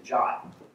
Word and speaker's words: JWT: how I know that the official pronunciation of JWT is jot because that happens to